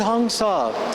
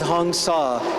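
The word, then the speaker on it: Hong-Sau: what we're doing with honga it's a simple Mantra honga h o n g like rhyming with gong and saw like sawing aboard s auau again a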